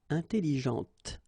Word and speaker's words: intelligente: Intelligente. Same thing here. When you put this well, actually you will pronounce the final T, okay, but you don't pronounce this here.